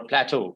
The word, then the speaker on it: plateau: Plateau is the way you pronounce this.